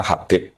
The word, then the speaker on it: Habib: Itu di harakatnya kitab itu ada yang nulis khubb. L yang benar. Oh, nggih. Yang benar itu bacanya Habib.